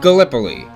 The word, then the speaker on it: Gallipoli: It's pronounced Gallipoli.